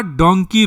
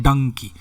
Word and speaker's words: Dunki: डोंकी जो है पंजाब में, इसका पंजाब का रीजनल प्रोनाउंसिएशन होता है डंकी, एक्चुअली यह डोंकी होता है।